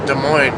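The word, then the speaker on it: Des Moines: their own city name except De Moine. They're like, "We have De Moine." even though it's spelled funny. We'll make one unique town named and it will be De Moine.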